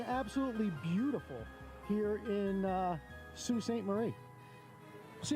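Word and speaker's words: Sault Ste. Marie: until we got here I thought it was Salt St Marie if you look up how it's spelled but it's Sue St Marie is the way they pronounce it and uh glad I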